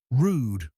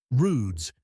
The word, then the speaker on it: rwd: The late Egyptian word rwd pronounced like rude or ruds meant shore.